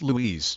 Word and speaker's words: Lues: Louise Louise pronounced Louise an old name for syphilis a sexually transmitted